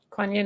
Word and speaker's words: Kuan Yin: Kuan Yin, love. Yeah. What's going to happen Kuan there? Yin is with you. Hey? Kuan Yin is with Kuan you.